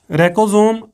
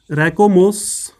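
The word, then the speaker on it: racemose: question number 13 की अगर हम बात करें, क्वेश्चन नंबर 13 में है कैरेक्टरिस्टिक्स ऑफ रैकोसोम, सॉरी बेटा थोड़ी सी प्रोनाउंसिएशन मेरी बिगड़ी हुई है भाई, रैकोमोस ही बोलेंगे इसको भाई, और साथ में है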